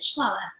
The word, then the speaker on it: Shalala: This is Pastor Shalala. Did I say that correctly? Yeah, close enough. How do you say it? Shalala.